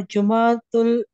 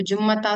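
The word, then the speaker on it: جمعة: अच्छा, सबसे पहले तो ता मरबूता साइलेंट है, तो जुम्मता तो बिल्कुल नहीं होगा, जुमा.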